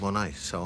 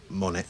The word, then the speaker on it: Monet: And then I quite like an artist called Monet, so I named it after him. Monet, but pronounce it Monet, Monet shoes. Some people call it Monets.